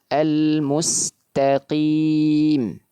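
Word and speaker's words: الْمُسْتَقِيمَ: Ketika harakatnya kasrah maka ketebalannya menurun. Bacanya bagaimana? Almustaqim. Tapi ingat jangan sampai juga menurunnya ketebalan pada qaf berubah menjadi huruf kaf.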